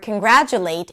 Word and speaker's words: congratulate: So let's say you took the word congratulate and you said that the late is the primary stress, and in the dictionary you saw that it's gra.